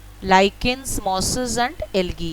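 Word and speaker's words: lichens: The extreme cold are लीचेंस, mosses and algae. सो इसको एक minute रुकिए. सो एक्चुअली ये जो लीचेंस मैं बोली, इसका मैं प्रोनाउंसिएशन थोड़ा सा कंफर्म करी, तो इसको लाइकेंस बोलते हैं, ठीक है.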